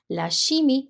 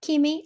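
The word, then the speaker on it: chimie: physic physics laimi chemistry shimi it's not Kim I did have some students last year pronouncing it as Kim it is not it is shimi lashi CH is a sh sound in French laimi which is chemistry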